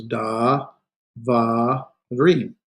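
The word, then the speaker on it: דָּבָר: So that's da. There's our consonant with a vowel, preceded followed by another consonant with a vowel. So that has to be where we draw our syllabification. Va, and ends with a consonant with no vowel, so it's da, var.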